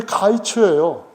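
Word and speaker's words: קַיִץ: 히브리 원어를 사전을 찾아보시면은 여름이라는 단어 또는 여름 실과라고 그냥 번역하는 단어가 발음이 카이츠예요.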